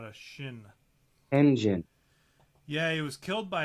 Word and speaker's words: Tenjin: Did you say Tenshin? No, Tenjin. Tenjin. Yeah, it's a J, not a shin. Tenjin.